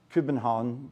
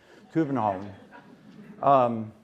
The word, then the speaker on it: København: So we flew to Helsinki, and then I flew to Copenhagen, København, something like that in Danish. I won't tell you how everyone pronounces stuff, but the Danes have to swallow everything. So København.